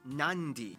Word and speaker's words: Nadi: makes the th sound, D makes the nd sound, B makes the mb sound. Both Q and G make the ng sound. Therefore, the town of Nadi is actually pronounced Nandi.